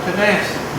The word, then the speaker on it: Tennessee: Now, if you're Cherokee, you call it Tanassi. Most people call it Tennessee. But if you are from Tennessee, the syllable you pronounce emphasis on is the first one, Tennessee. Nobody who is from Tennessee says Tennessee or Tanassi.